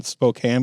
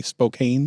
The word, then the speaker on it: Spokane: dumb one but I when people try to pronounce the word the city in Washington Spokane but they say Spokane yeah I've said it both ways I know